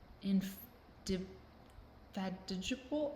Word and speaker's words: indefatigable: Like how I would come across it in reading or I would read it someplace, somehow, somewhere, and just be like, indefatigable.